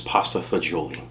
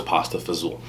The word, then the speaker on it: pasta fagioli: right here this is pasta okay the correct pronunciation is pasta fagioli that's what you'll see on the menu if